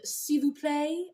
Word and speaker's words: S'il vous plaît: That was the pencil lip liner in S'il vous plaît, as Melissa very well told me in the comments. That's how it's pronounced.